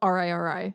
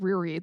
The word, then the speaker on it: Riri: that her name well it's spelled r-i-r-i and I said reread the first time and it's Gotta Be Riri right I think so I